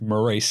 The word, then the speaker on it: Maurice: pronounced Maurice.